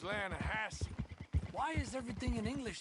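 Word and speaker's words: Lannahechee: no no no no no no the the lana hatchy it runs right near here yeah but it's pronounced land hassle why is everything in english said differently than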